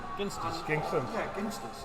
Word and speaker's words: Ginsters: G gers gers yeah ginsters it's hard is hard it's not gin wait what H Dan